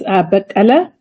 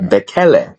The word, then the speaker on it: Bekele: please correct me if I'm wrong, but the pronunciation is Bekele. Very close, Bekele. Bekele. Very close.